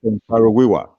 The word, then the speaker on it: Ken Saro-Wiwa: Ken Saro-Wiwa. Yeah. Abacha, he was complaining and campaigning about the spilling of oil. Dele Giwa as well. Look at people like Dele Giwa as well. Ken Saro-Wiwa.